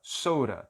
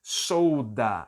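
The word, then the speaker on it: soda: tio né sou da Sora Sora quando eu falo muito rápido o som de D acaba virando um som de R então eu não vou dizer solda eu vou falar chora professora Ok essa é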